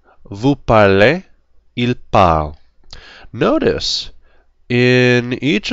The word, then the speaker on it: parlez: These four are, they all sound the same. They're written differently, but they all sound the same. Our only different ones are parlons and parlez.